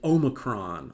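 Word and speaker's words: omicron: And I'm going to pronounce it omocron. Although I understand that that's a function of my accent pronouncing it that way.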